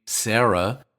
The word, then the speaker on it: Sarah: For instance, in all these languages, the name Sarah is pronounced Sara, using my transcription. Sara, Sara, Sara.